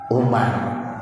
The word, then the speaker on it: Umar: bin Amr Bin Ash bedanya Amr dengan Umar kalau ada waunya bacanya Amr kalau kagak ada waunya Bacanya apa Umar ini ada Umar ada